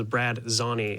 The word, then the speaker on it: Brad Zani: I did hear back from our modder that made the map tax system, and is Brad Zani is how you say his name.